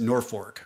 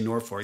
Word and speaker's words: Norfolk: their claim to fame it's spelled Norfolk but you pronounce it Norfork got it h so not mispronouncing it when I say Norfork that's how they what they call it Norfork Nebraska little town of